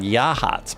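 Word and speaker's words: Yachats: We have a town in Oregon called Yahhats, but it got no yachts. No yachts and yahhats. It's spelled yachts.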